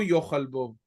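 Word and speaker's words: יֹאכַל: Note that the word yochal, usually with the accent on the last syllable, here has the accent on the second to last syllable, yochal bo, because it is sometimes the accent when following the last syllable, you have another accent. Here, the accent in the syllable bo, which is also a word, the accent that it was supposed to be here shifts back to the penultimate syllable.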